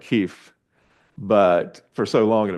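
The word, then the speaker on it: Kyiv: the US government officially started saying Kei instead of Kev um it's the same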